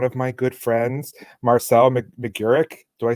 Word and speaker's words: McGurk: I didn't know if you pronounced all the vowels in between. It gets everybody. You are not alone. At least you didn't turn the G into a Q. I get McQuirk all the time.